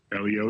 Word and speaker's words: Elio: And am I pronouncing it right? Is it Elio? Elio is absolutely correct.